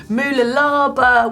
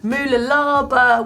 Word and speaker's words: Mooloolaba: We've got this picture from the ITU Moolalaba World Cup. I think I've said it right. I'll get a tongue twisted over that one. Moolalaba World Cup.